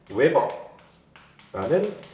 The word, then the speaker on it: 웨버: 우리가 볼 일이 없는, 그동안엔 없었던 단위인데 읽을 때는 뭐 어디다 쓸까? 이쪽 웨버라는 발음으로 읽을 거예요.